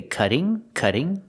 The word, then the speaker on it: cutting: You can say cutting, with a double T making a D sound, a fast D, cutting it close.